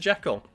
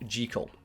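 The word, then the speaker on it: Jekyll: Jackekal. Fun fact. It's actually pronounced JL to rhyme with trial.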